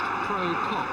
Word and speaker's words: Prokop: The referee comes from East Germany, Adolf Prokop, which the Scottish fans have not been slow to point out could equally well be pronounced Pro-Cop.